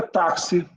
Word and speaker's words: táxi: Então, é táxi, tá? É nexo, anexo, tá? Sexo, refluxo. Esse X tem som de KS, a gente chama isso de dífono.